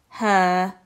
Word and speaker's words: her: And her. The e and the r make the r sound. Her.